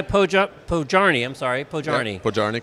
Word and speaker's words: Podjarny: Yeah, Podjarny, correct. Welcome, he's the CEO of Snyk. Not spelled like sneak, you'll see it on the lower third.